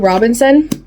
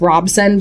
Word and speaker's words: Robson: after that so yeah blood guard by CC Robinson I think I'm pronouncing it's Robson but whatever um so what do you guys